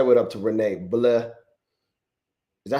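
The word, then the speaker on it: Bleau: cuz I was thinking of like uh you got the the fountain blue over here, but it's pronounced La Fontaine Bleh B L E A U Jason Vladimir I'll be back on for power hour.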